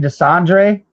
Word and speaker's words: Desandre: Uh, Tiberius, is your is your last name Desandre? Uh, that's what it says on the thing. Yeah, I'll just make sure I pronounced it right. Yeah, that that's definitely pronounced correctly.